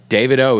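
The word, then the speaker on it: Davido: yeah my man Fireboy and by the way David O is how you say his name oh yeah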